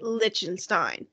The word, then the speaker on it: Lichtenstein: And just like the word ornithologist last week, you can say Lichtenstein. Lich rhymes with an it, rhymes with itch. Lichtenstein.